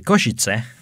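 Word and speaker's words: Košice: airport and kosciutz now before we get into koshitse uh that's how i would pronounce it he said koshitse i say koshitse but okay he's not slavic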